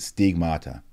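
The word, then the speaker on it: στίγματα: That's, you actually pronounce it stigmata in the Greek.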